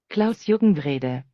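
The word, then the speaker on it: Klaus-Jürgen Wrede: This is the correct pronunciation of the designer's name. Klaus Juckenwrede.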